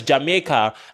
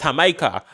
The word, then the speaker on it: Jamaica: mentions like he mentions Jamaica and he doesn't say Jamaica, he says Hamaha.